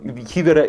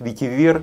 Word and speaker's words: ветивер: Несомненно, у этого ветивера есть... Кстати, правильно говорить ветивер, ударение, но я все время вот привык к ветивер, мне так удобнее, поэтому вот так.